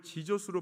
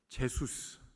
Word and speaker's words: Jesus: 그런데 대구의 어느 한 청소년한테 물어보니까 이 JESUS 이거를 지저스로 발음을 하지 않고 제소스, 이 제소스가 누구야?